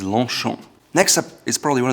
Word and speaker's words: Longchamp: It's not Longchamp, it is Longchamp.